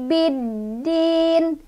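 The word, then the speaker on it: بِالدِّينِ: Cara bacanya alif lamnya nggak dibaca, kita langsung baca ke huruf dal ya.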